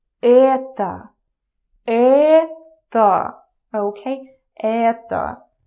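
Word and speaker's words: это: in a minute so in Russian you say Etta oh okay Etta Etta I don't know dude I hate doing the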